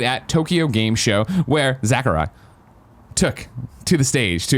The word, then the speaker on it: Sakurai: Ultimate creator and director Sakurai. That's how you say it. Sakurai. You say it with a Z, though.